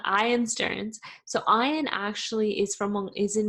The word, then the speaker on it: Stearns: So episode 5 was with Ian Stearns, or Ian Stearns, actually. I mispronounce that all the time. Ian Stearns.